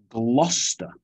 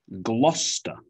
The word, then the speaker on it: Gloucester: let's take a look gloucester gloucester so if you see a town name with c e s t e r you might think it's chester or cester but no we reduce it to